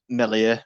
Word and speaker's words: Meslier: So, yeah, it's really impressive from Meslier, as Brinlaw calls him, because apparently that's how you pronounce it.